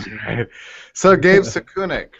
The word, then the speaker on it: Sukenik: actually very very nervous right okay so gave saku neck right and am i presenting that exactly right yes sukenik but i won't i won't fault you on